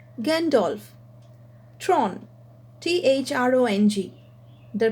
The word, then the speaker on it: Gandalf: gandalf this is one word which is made up of two syllables gan dolph so the pronunciation is gandolf tron t-h-r-o-n-g the pronunciation